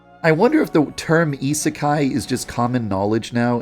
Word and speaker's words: isekai: __ ] is in isekai what the I used to pronounce it ESI a a lot for a long time